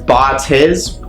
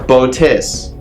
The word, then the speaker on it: Botis: right into the description Botes pronounced as bot is or boat is can bring you the